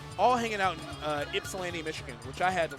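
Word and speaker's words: Ypsilanti: people from Mexico all hanging out in uh ipsan Michigan which I had to learn to pronounce last night cuz I kept saying it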